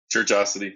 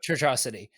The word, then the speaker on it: Churchiosity: Christian, Heath from the Churchiosity podcast. Is that how you pronounce it? Churchosity, yeah. Churchosity.